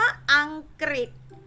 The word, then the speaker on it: อังกฤษ: สัมฤทธิ์ เดช นะ คะ คำ ว่า อังกฤษ อังกฤษ เห็น ไหม คะ ออก เป็น เสียง ริ ตอบ ๆ ทฤษฎี ทฤษฎี